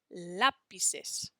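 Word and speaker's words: lápiz: we spell lapis le we want to do an a with an accent mark so that it says lapis okay that's where we put the emphasis does he play football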